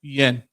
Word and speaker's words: Guillen: Guillen. Guillen? Guillen, yeah.